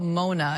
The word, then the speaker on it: Mona: So tell me more about Mona.